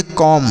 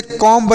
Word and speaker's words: comb: हम पढ़ेंगे COM, तो इसे हम पढ़ेंगे कॉम। क्या पढ़ेंगे, कॉम पढ़ेंगे, इसे कॉम्ब नहीं कॉम पढ़ेंगे। बी साइलेंट है, बी को नहीं पढ़ेंगे।